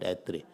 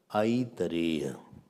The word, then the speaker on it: Aitareya: Aitare, not Atre. Aitareya. Say. Aitareya, not Atre.